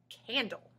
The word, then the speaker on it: candle: A consonant plus L-E at the end of a word forms a syllable with a quiet vowel sound right before the L. This quiet sound is called the schwa sound.